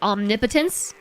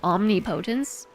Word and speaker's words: omnipotence: or as the kids like to say, omnipotence. Omnipotence is one of those words that I read as omni potence every time.